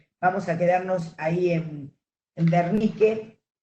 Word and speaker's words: Wernicke: Pero se pronuncia Wernicke, la W en alemán se pronuncia B corta, y la B corta se pronuncia F.